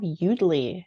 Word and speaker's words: Yoodli: We do have Udly now, which is spelled YOODLI, and then it's .ai for their website.